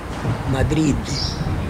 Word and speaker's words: Madrid: Madrid. Uh-huh. You forget to put the D in the end. Right. This is that's the thing. Right, I don't do it. I say Madrid.